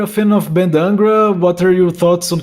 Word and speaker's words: Angra: fan of Angra Angra I don't know how you guys would pronounce so here we say Angra but they are really